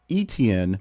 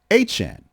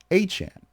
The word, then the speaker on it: Etienne: pronounced, with the explanation that it is not Etienne, more or less as it's spelled, but it is Etienne. Etienne.